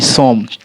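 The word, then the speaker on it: some: तो अपवाद हमारा यही है कि SOM, सोम, हम यहाँ इसे पढ़ते हैं क्या, सोम, लेकिन हमारे सोम ना पढ़ाकर सम का उच्चारण देता है।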